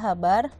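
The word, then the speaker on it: ħ: n dikali habar ya ini dibacanya habar dimana n itu bilangan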